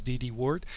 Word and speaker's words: DD-WRT: upgrade your Wi-Fi router it could be dd-wrt sometimes some pronounces DD wart or tomato firmware a